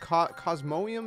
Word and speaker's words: Cosmoem: to be covering how to get cosmog and cosmonium is how you pronounce it anyways uh in pokemon sword and